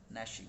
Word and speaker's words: gnashing: नैश होता है दांतों का ऐसे ऐसे पीसना, और नैश यहाँ जी साइलेंट है, एन की आवाज निकलेगी, gnashing of teeth।